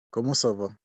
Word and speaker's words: comment ça va: Remember the nasal sound? On. So we say como ça va. Can you say como ça va? Comment ça va?